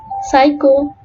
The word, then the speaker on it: psycho: Silent letter P. When letter P precedes letter S and T and N, it is not pronounced. For example, Sam, pneumonia, psycho, and receipt.